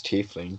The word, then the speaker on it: tiefling: Google says it's tiefling, but let's not get into that argument because I actually did look that up because I I used to had no say life.